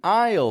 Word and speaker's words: aisle: might say or but if you add that y Glide in there IO I you'll say the word exactly the way that Americans are listening for maybe you have an aisle seat it's not bad